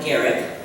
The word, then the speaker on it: Garrick: Honorable Rotarians, my name is Garrick. It rhymes with Eric.